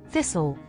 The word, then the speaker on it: thistle: The letter T is silent in some words, especially when it follows an S or is part of the STLE at the end. Thistle.